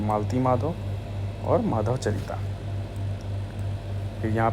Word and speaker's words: मालती माधव: और मल मित्यधा, तो माला तिमध्याव, ओ सॉरी प्रोनाउंसिएशन मेरा गलत था। ये जो किताब है ये है एक है महावीर चरिता भावभूति की और दूसरी है मालती माधव, ठीक है।